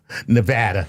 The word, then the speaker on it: Nevada: Jared Higgby from Alamo Nevada. He says hello Dr. Tyson Lord Chuckles. You even said it right. Nevada. That's how they say it locally.